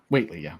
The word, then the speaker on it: Whately: Okay, how do you pronounce it? Is it Robert Whately? Whately, yeah.